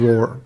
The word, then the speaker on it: Rohr: it I honestly don't but it's kind of pronounced the same it's yeah you just kind kind of Roar yeah so the original Michael and Mary came